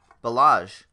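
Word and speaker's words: Ballage: is Kailen balázs 7920 i think that's how you pronounce it balázs like Bellagio I heard it on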